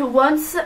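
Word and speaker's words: Yoins: Donc ensuite on a aussi collaboré avec la marque Once. Alors ça s'écrit Y, voilà.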